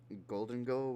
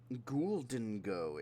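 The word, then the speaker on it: Gholdengo: me see his name golden go right golden go that golden goes shiny I've actually never seen it oh his name is spelled like ghoul ghoul didn't go is what he okay that's how you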